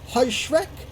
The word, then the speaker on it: Heuschreck: In fact, I believe the Germans tried to teach me how to pronounce the name as Heuschreck.